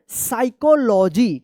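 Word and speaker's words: psychology: साइकोलॉजी। क्या पढ़ेंगे? साइकोलॉजी। यहां पे पी जो है ना साइलेंट है।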